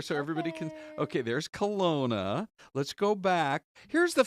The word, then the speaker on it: Kelowna: Kelowna. Kelowna. I know. It's hard to get the pronunciation down.